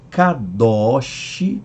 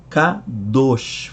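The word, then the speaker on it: קדוש: Há quem pronuncie kadosh, aberto, já quem pronuncie kadosh, fechado, kadosh, kadosh, kadosh.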